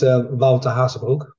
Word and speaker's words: Wouter Hazebroek: A Dutch, originally Dutch hockey enthusiast via Sweden, Wouter Hazebroek. Did I pronounce that okay? Mostly. Mostly. It's Wouter Hazebroek.